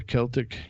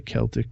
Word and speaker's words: Celtic: Halloween is on October 31st, the last day of the Celtic calendar. I did say Celtic, not Celtic. Correct pronunciation is Celtic.